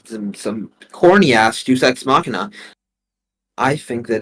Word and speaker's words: Deus Ex Machina: I haven't seen most of those shows, but first of all, it's pronounced Deus Ex Machina.